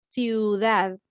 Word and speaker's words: ciudad: The CI is pronounced C, ciudad.